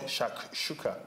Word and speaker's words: Shakshuka: So what I decided to make was a North African dish called Shakshuka.